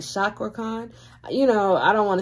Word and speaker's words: Cakra Khan: yeah you guys said it is pronounced with a ch so it's like chakra khan you know i don't